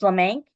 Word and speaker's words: LaManque: My name is Mrs. LaManque, which rhymes with "bank."